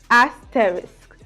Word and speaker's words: asterisk: a s t r i s k is pronounced as asterics asterisk asterisk I wanted to get it right myself